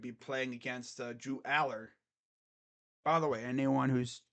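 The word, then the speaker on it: Allar: say drew aller's name that's how you say it drew Aller not alar I guess it doesn't really matter as long as you're not saying it like a lair it's Aller oh yeah uh tonight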